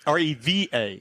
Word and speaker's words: Reva: R-E-V-A.